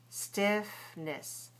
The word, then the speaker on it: stiffness: Stiffness. Notice we don't say ness. We move it down in value. We reduce it. We compress it to stiffness.